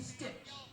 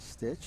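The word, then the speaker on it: Stich: Number 15, Cody Stitch. They pronounce it as Stitch.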